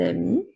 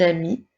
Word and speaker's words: amie: avions aussi une une amie n'oublie pas de mettre l'espace entre les deux mots par le mot une un et le mot ami a M I e la lettre E muette lorsque nous parlons lorsque